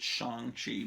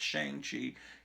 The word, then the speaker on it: Shang-Chi: It's Shang-Chi, but they tell you in the movie you're supposed to pronounce it Shang-Chi. But all the kids that I knew in the 70s when this comic book came out called it Shang-Chi. You should think of Shanghai and, so whatever.